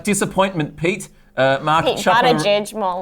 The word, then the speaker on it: Buttigieg: Buttigieg, more like. Yeah. Why? It's not he's even a how you dis- say it. It's Buttigieg. People like Buttigieg.